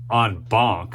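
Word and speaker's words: en banc: Okay, and I know you're thinking on bonk. What does that mean? I had to look up how to pronounce it. It's French.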